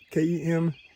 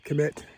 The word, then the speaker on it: Kemet: okay look it up k-e-m-e-t sometimes k-e-m-t it just depends on how you want to spell it but that's the assumed pronunciation commit kemet okay ancient egypt the